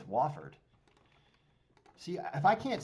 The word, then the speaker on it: Wofford: their opponent which is wolfard wolver wofford i don't know i think they call it wofford i think i say it wrong i think it's wofford see if i can't